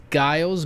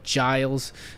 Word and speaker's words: Giles: will be andrew giles i was gonna pronounce guiles but it's actually giles the new australian immigration